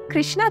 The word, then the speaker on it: कृष्ण: कुछ लोग कृष्ण बोलते हैं, कुछ लोग कृष्णा बोलते हैं, कुछ लोग कृष्णो बोलते हैं।